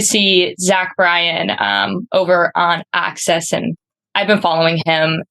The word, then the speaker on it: AXS: Basically, there's like a login you can do for AXS, which is pronounced Access, like you said before.